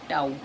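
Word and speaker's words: tau: इस सिंबल इसका प्रोनाउंसिएशन होता है ताऊ नहीं टाउ, ठीक है।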